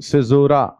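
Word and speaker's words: caesura: का चलिए पढ़ लिखें सिजोरा इसका उच्चारण क्या क्या है हां सिजोरा सी जैसे सिजर कैंची वाला सिजर नहीं जूलियस सिजर वाला सिजर सिजर सिजर हिस्ट्री में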